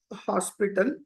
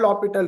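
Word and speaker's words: L'Hôpital: you about the L hospital roomle this is basically we call LH rule or lital rule hospital is just for writing it is not the exact pronunciation all right LH rot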